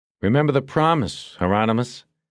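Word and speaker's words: Hieronymus: Heronmous rhymes with anonymous."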